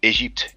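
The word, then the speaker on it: Égypte: Also the French word, because we pronounce it Egypte in French, but it's very similar.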